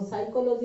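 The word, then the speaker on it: psychology: करके एस पढ़ लेना, पी को साइलेंट करके एस पढ़ लेना। अरे इसे देखना, एगो साइकोलॉजी लिखता हूँ PSY साइकोलॉजी ऐसे करके लिखते हो। Yes, sir. और साइकोलॉजी में देखो P है लेकिन पढ़ते क्या हो S, तो P को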